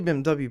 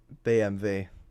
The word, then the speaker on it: BMW: You know, that's the German way to pronounce it. That's how you pronounce it. BMV. That's how you pronounce BMW.